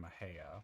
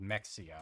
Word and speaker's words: Mexia: there was an HEB in mejaya which I called Mexia because that's how it's spelled and I thought that